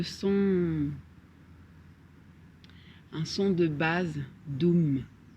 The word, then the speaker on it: dum: c'est vraiment le son un son de base dum d u m deux camps s'inscrit on va prononcer avec son teint dum dum dum dum